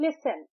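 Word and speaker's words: listen: हम कहते हैं लिसन। एल आई एस ई एन लिसन तो यहां पे टी साइलेंट है।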